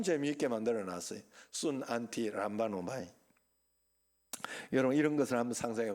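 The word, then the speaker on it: συναντιλαμβάνομαι: 그게 바로 순, 안티, 람바노마이 그러는 거. 순, 안티, 람바노마이. 한번 따라합시다. 순, 안티, 람바노마이. 요 마지막에 잘 발음이 안 돼.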